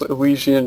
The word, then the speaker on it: Elysian: if I'm wrong but I think it's pronounced lisian Shadows but you are uh